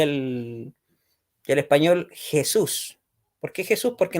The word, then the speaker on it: Jesús: Jesús porque Jesús porque nosotros la la jota la J inglesa que la en inglés se la suena como latina ya nosotros lo pronunciamos como una como una gutural parecido a la a la Jet hebrea Así que es por